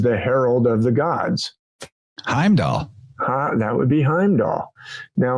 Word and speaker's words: Heimdall: And what's the first syllable of Heimdall? Ham.